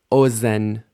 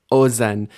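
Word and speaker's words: אֹזֶן: Z this zahav gold as so oen ear initial stress oen and notice what I've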